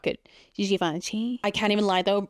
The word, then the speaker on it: Givenchy: This is the new holiday collection from Givenchy. My Givenchy pronunciation is usually not good, but that one in particular was really not good. Givenchy.